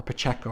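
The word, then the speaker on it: Pacheco: but drawn by um Carlos Pacho um or Pacho rather that's how his name is pronounced and excellent another Spanish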